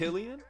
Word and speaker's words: Cillian: Is it Cillian? Yeah. Oh, I've been pronouncing his name wrong since 28 days later.